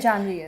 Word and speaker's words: Janhvi: And no one can spell And no, with Janvi, No, and for some reason, no one can pronounce it. Pretty like straightforward name to pronounce, right? Janvi is. Janhavi. you know, I Not that confusing.